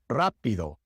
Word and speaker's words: rápido: The soft sound, which is like the fast D sound in English, pero, cara, varios, and the hard rolled sound, rápido, rosa.